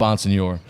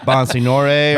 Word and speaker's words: Bonsignore: Bonsignor. I thought it was hooked on phonics Freddie today. Yeah, it's not like Bonsignore or something.